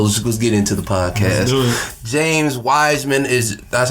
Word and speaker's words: Wiseman: James Wiseman that's how you pronounce his name.